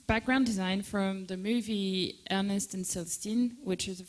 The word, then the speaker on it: Ernest: How do I pronounce it correctly in French Ernest Ernest et et Célestine.